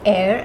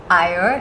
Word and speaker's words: Eyre: And yes, it is Eyre and not Eyre.